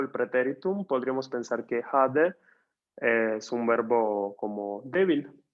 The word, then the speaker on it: hade: Aquí es breve y suena como en español, hade.